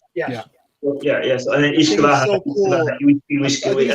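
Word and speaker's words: uisce beatha: So and then Ishkavaha. So cool. How do you pronounce that? Ishkavaha. I thought because I thought it was like Ushkabe, but I guess I got that all wrong.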